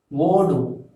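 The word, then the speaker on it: ஓடு: You have to pronounce this as wodu.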